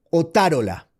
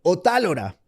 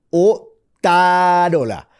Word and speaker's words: Otáola: Mi ciudad, Javier Otáola. No Javier Otálora, como podría pensarse, sino así, Javier Otola, que es un personaje